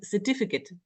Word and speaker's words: certificate: in the word Infamous there's no Kate in the word certificate and there nose Green